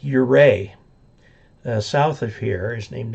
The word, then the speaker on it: Ouray: Utah, of course, is named after the Utes, and there is a Ouray in Utah, but it's pronounced Ouray.